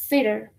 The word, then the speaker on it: theater: Theater. El TH suena como una F, pero interdentada. Theater, theater, theater is the pronunciation.